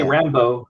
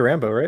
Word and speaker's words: Rambeau: When you say Rambo, Dennis, how do you say it? Was it Rambo? I say Rambo. That's Monica Rambeau, right? You say Monica Rambeau? I say Rambo, but isn't that the way they say it on the show?